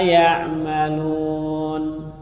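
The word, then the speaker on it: يعملون: Boleh juga baca wa mallahu bighafilin amma ya'malun. Huruf ya, tak jadi ya, artinya tidak merubah, memang bacanya beda.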